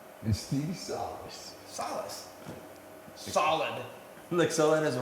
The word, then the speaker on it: Salas: how I say it I thought it was Salis some people say it that way okay I'm going to keep saying don't say it like a Canadian this is Phil X and Stevie Solace Solace solid solid as